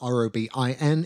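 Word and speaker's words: Robyn: That's spelled R-O-B-I-N. If you spell your name R-O-B-Y-N, your name is Robin.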